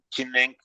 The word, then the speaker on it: Zhineng: Chinen se escribe Zhineng, Chinen, y es espacio así escrito en letra, espacio Chinen, que es la técnica de Qigong que yo practico.